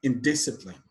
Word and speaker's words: indiscipline: Indiscipline, the stress is on the second syllable.